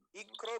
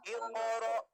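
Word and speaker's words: اقرأ: Ikro bismiro ya. Padahal itu huruf kok sukun, maka dibacanya iqoro.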